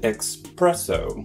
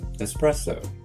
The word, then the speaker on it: espresso: Because you have express in English, people think the drink is an espresso, which is a mispronunciation of espresso.